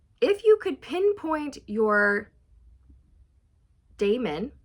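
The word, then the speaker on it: daemon: you could pinpoint your Damon it's Damon it's not Diamond I pronounced that wrong it's Damon if you could pinpoint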